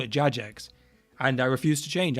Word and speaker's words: Jagex: I'm still going to say Jagex cuz when I was a kid and we played Runescape on the school computers when we weren't supposed to, we all said Jax. I'm saying it right. Good. Blow high. Yeah. But when I was a kid, we all could have said Jax. And so I have just kept it that way and I refused to